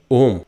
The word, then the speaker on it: ओम्: आप सही से उच्चारण क्या है, उसमें अ है, उ है, म है, और ट्रस्ट करो, जब